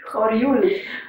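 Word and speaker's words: Horjul: How will you pronounce it? Horul.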